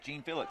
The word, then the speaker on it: Jean Felix: Justin Jean Felix. Jean-Philippe. Jean Felix. I think they actually pronounce his name Gene Felix here.